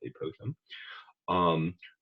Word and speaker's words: apophthegm: Apophthegms, which we learn about a whole lot later, and my colleagues will tell me it's pronounced apothegm.